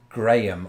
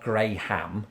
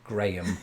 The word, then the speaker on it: Graham: because it's most decidedly in my pronunciation Graham not grayham Graham Graham all one vowel yeah when you do